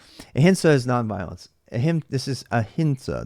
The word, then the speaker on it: Ahimsa: This is Ahinsa. This is not an M. It's Ahinsa. It's pronounced with an N.